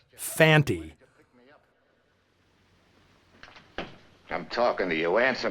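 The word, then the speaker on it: Fante: I saw this movie, I'd assumed Lee Van Cleef's character was named Fanny, since that's how both Earl Holliman and Brian Donlevy always pronounce it. It's only when Conte speaks the guy's name does he clearly say Fanty.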